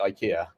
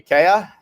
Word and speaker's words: IKEA: about Ikea is that in Scandinavia they don't pronounce it Ikea they pronounce it properly ikaa Ika close enough I'm